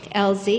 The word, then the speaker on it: Elie: honoring Winfred El warlock Elie excuse me we pronounced the E whereas at the age